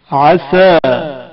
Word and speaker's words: عسى: سین صاد کا فرق. عسى عصا سین سے، اس کے معنی امید ہے یا شاید. عصا عصا سات سے، یعنی نافرمانی کی.